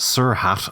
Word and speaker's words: srht: type thing yeah um srht I have no idea how he intends it to be pronounced sir hat apparently but that just sounds